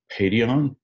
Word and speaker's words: Paidion: It is pronounced Paidion.